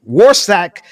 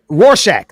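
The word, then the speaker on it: Rorschach: remember uh the the war I can't even pronounce. What's that? The Rostat somebody Warsack test is where you Roshack.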